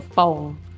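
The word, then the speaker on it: Pong: and we live in a a subdist called Fong. It's spelled P O N G, but it's actually a BP P. So foam, I wish foam had planned that out and put shade around the fitness equipment.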